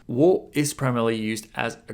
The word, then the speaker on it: を: up to get away を is pronounced like ‘o’ in ‘origami’ just like the vowel ‘o’ It used to be